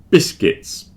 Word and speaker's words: biscuits: noticed from my notes biscuits biscuits biscuits are biscuits they're not biscuits there's no u in there don't pronounce that U biscuits vegetables come on